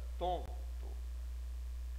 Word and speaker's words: tonto: Observem que eu não pronuncio o N. Ele tem a função única de fazer o som do O sair pela fossa nasal. Ele não tem pronúncia. Então fica tonto.